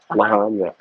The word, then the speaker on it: Lahaina: There's that little town, Lehaina. Lahaina. That I know how to pronounce.